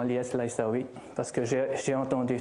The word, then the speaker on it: Lyes Laissaoui: ceux qui se demandent comment on prononce c'est mon nom c'est tout simplement li laaou parce que j'ai j'ai